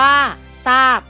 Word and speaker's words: ทราบ: เช่น ทราย อ่าน ว่า ทราย ทราบ อ่าน ว่า ทราบ พุทรา อ่าน ว่า ว่า พุทรา อินทรีย์ อ่าน ว่า